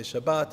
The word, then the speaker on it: Shabbat: many people see shabas I like to use the ashkanazi trans pronunciation I'm used to growing up it's all the same you could say Shabbat you could say shabas whatever you like but I'm just going to go with shabas makes it easier for me